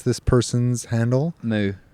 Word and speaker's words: MOU: Moo. I think it's Moo, right? Because it's MOU, which is often used for Jose Mourinho.